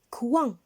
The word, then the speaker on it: coin: La lettre S est muette, on ne la prononce pas. Regardez maintenant, c'est un fruit. Quel est son nom? Un coin.